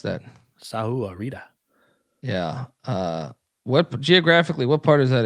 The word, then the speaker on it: Sahuarita: How do I pronounce that? Sahuarita.